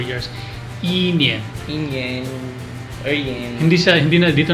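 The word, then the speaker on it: 年: Ang year naman, the word to say year is nian. Yen. So, 1 year, 2 years, 3 years, 4 years, nian.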